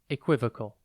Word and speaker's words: equivocal: time today's word is equivocal it is pronounced cool and spelled e q u i v o o c a l think e and then vocal before we get into